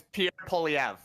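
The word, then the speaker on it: Pierre Poilievre: say it right did I get it it's Pier POV let's go let's go there we go a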